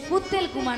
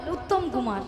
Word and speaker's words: উত্তম কুমার: শ্রী ঠিক করে উচ্চারণ করো তুমি ঠিক করে উচ্চারণ করো শ্রী শ্রী বলো শ্রী শ্রী শ্রী শ্রী উত্তেল কুমার নয় বলো উত্তম কুমার উত্তম কুমার হ্যাঁ মিয়াপুর জানি কুত্তল কুমার কইরে